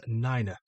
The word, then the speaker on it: nine: And nine pronounced as niner.